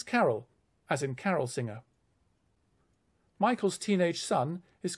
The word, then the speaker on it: Michael: For example, the main character's name is Michael, because that sounds a bit like the words my kill.